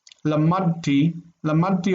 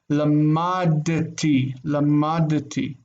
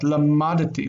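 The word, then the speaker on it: למדתי: Lamadti almost makes that dalet disappear. So we actually pronounce this seemingly silent shva as lamadati. And we really say that, lamadati.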